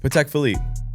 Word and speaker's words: Patek Philippe: How do you say it? PC Philippe. PC Philippe. But a lot of people say paddic.